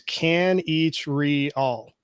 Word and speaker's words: Kanichirayil: your last name uh it's a lot easier than it looks it's can each read all so wow four syllables